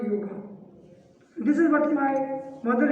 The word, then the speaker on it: yoga: When your ma'am was speaking about your college, she pronounced it as yoga, not yoga.